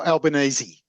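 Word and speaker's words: Albanese: prime minister is uh albanes is that how you pronounce his name yeah Al albanesi yeah albanesi I knew there was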